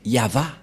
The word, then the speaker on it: Yahvah: prononciation de ceci c'est yava voilà la prononciation de ce terme lorsqu'on le prononce en